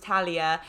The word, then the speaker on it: Talia: before i met and i was just calling utalia the whole time and i have a pet peeve which is when people know people's names and they pronounce them wrong and so then you told me it was talia and so now even